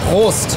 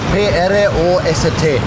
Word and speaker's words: Prost: Vamos a ver si tenemos puedes pronunciar host. P-R-O-S-T.